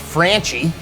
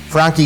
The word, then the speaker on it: Franchi: This is a waterfall gun, the Frankie. Often mispronounced Franchie. Frankie is now owned by Benelli.